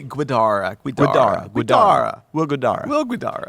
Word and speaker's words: Guidara: it's pronounced so okay it's will gu u i d a r it feel like it be guidara Guida will Gara will